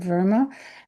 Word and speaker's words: Verma: of her involvement with the children's caucus, Verma. Am I pronouncing your last name right?